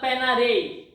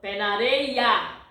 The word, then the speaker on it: Pé na areia: yes all right so you pronounce this less a all right it's not Pena Dave no panarea all right so put